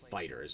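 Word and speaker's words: FighterZ: Dragon Ball Fighter Z, or it is literally just fighters, but the Z is silent.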